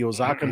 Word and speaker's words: Oaxaca: And now we're gonna do it's a 1/4 ounce of the Oaxacan chocolate syrup, right? Yeah, Ooh. that's Oaxacan. Actually, Oaxacan? Sam can probably pronounce it better than me.